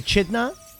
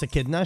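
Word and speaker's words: echidna: Make G the the Achidna. I know it's pronounced Akidna.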